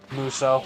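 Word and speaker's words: Musou: Which I didn't know until today is, was it Musu? Muso? How do you pronounce that again? I forget. Muso. Muso. It's a Dynasty Warriors.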